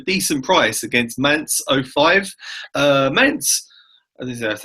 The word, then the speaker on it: Mainz: Mainz, that's how you say it.